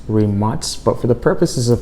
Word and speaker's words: Rimac: Now I should mention, Rimac is actually pronounced Rimac, but for the purposes of today's video, we're just gonna say Rimac.